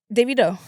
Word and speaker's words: Davido: Davido.